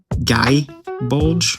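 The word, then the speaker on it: Gáe Bulg: different sources of how it's pronounced. and gay bulge. Gy bulge is kind of how I heard it at one point, but that just kind of sounds like gay bulge with an Australian accent.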